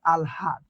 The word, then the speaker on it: আহ্লাদ: তো এখানে উচ্চারণটা কি হচ্ছে? আলহাদ, ওকে।